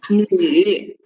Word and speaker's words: 女: So this one we're reading as 女. 女. It's a yu pronunciation match with n, so 女.